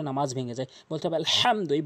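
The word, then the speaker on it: الحمد: ভেঙ্গে যায় বলতে হবে আলহামদু বড় হাই উচ্চারণ করতে হবে হলকের মাঝখান থেকে এ ছোট হাই উচ্চারণ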